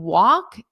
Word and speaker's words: walk: And yes, the L in walk is totally silent. Just ignore it. It's not there.